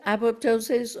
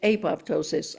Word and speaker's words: apoptosis: Okay, you can pronounce it apoptosis or you can pronounce it apoptosis. Either way is medical, is scientific, it's accepted.